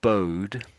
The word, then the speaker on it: bowed: So it's it's so these two words here sort of make the same sound pretty much. Homophone like a homophone. I would say these are bode and bode.